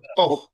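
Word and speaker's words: ق: কফ সবাই বলেন কফ এই কফের উচ্চারণ স্থানটা হচ্ছে এটা একদম শেষ থেকে তাল উপরে কফ লেগে কফ কফ কফ কফ কফ কফ ক এইযে দেখেন কোত থেকে এটা প্রচারিত হচ্ছে এখান থেকে আর এখান থেকে আমাদের হচ্ছে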